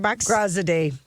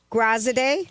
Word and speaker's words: Graziadei: We had our new Bachelor, Joey, who can pronounce his last name for $100. Graziadei. Graziadei.